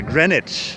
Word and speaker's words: Greenwich: are in Great Britain you can't pronounce half of the letters in the names of places because people like Jane over here will laugh at you and uh so yeah grenwich is how we pronounce this we're just kind of